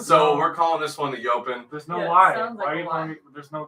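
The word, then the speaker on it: EOpen: a really cool layout it is called the open which is spelled e-o-p-e-n the open uh and this is the layout if you will i know you just call it the e open no it's the open it's like what we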